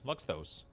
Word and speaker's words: Luxthos: Luxthos. I do pronounce that one. I've always pronounced that one. Every time there's like 3, I always pronounce those.